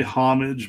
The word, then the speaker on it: homage: I say homage. I've heard people say homage, but I think it's homage because it's from the French.